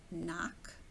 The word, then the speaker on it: knock: you know this one when it's a k n it's knock it's a silent k right there slope like a ski